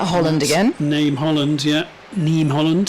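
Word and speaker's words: Niamh Holland: Neem Holland, sorry. Neem Holland. I'm learning these pronunciations from you as I go along here, guys. You better get it right. Good Irish name, Neem.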